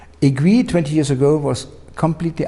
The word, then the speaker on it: Aiguilhe: the consumer had admitted a new brand name agreed 20 years ago was completely unknown now the people no agree and agree is not easy well agree yeah